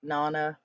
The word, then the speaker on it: Nana: Yes, pronounced Nana like mama.